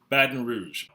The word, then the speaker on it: Baton Rouge: Baton Rouge. Baton Rouge. Baton Rouge is the capital of Louisiana. It's actually the fourth. The pronunciation of the city, locals tend to pronounce it Baton Rouge or Baton Rouge.